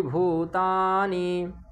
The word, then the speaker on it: भूतानि: है सबका अव्यक्ता दीन भूतानि ठीक अव्यक्ता दीनी भूतानि अव्यक्ता दीनी भूतानि अव्यक्ता दीनी भूतानि यहां भू में भी उ बड़ा है तो भूता भूतानि व्यक्त व्यक्त यहां त